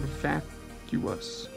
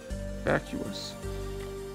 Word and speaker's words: vacuus: You see, the word vacuum originates from the Latin word vacuus. Vacuus. Meaning empty or void. As you can see, the two U's make different sounds and have a syllable split between them, the same way the